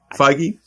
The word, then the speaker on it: Feige: first time you kevin is it figgy how do you pronounce his last name feige you know went into